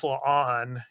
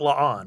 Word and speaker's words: La'an: Whereas, of course, La'an, and we're going to talk about her all throughout this episode.